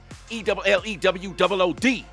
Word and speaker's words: Ellenwood: Let me tell you how we say it like Crime Mob, the rap group. ELLEWOOD.